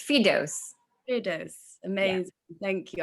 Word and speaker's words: Firdous: If you don't mind calling me by my full name, it's Firdous. Firdous. Amazing. Yeah. Thank you. I wasn't sure how to pronounce it properly, so that helped.